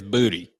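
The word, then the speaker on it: Boutte: Blayne will pronounce it for you. Booty? He has made it clear. It is Booty. It is Booty. So Kayshawn Booty is how he wants to pronounce.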